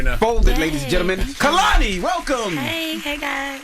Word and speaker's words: Kehlani: It's very important that during this era of my life, I let everyone know that my name is pronounced Kehlani. Kehlani.